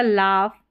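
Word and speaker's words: laugh: तीनों स्पेलिंग्स में देखेंगे जी एच तो ये फ करके इसको प्रोनाउंस किया इसका उच्चारण फ करके है यहां पर तो दो है जी एच साइलेंट रहेगा या फ करके इसका प्रोनाउंस इसका प्रोनाउंसिएशन होगा जैसे इन स्पेलिंग्स में अगर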